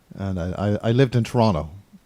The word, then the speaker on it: Toronto: i i lived in toronto more accurately said torana t-a-r-a-a-n-n-n-a toronto toronto well i'm on